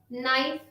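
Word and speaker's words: knife: जैसे KNEE, नी, K को छोड़ दिया। KNOB, नॉब, K को छोड़ दिया। KNOW, no, knock, नाइफ।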